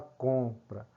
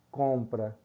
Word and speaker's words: compra: de o fechado né compra nós falamos compra e não cobra certo falar se Cobra retiraria esse M certo esse M não é pronunciado certo a sonoridade certo